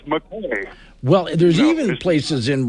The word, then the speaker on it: Mackay: And the place, as you drive through, is spelled Mackay. Yeah. Well, how do you say that? Yeah. That's McCay.